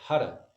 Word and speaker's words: Har: but we pronounce it hara as the tongue hits the top of the mouth on the r sound okay and then as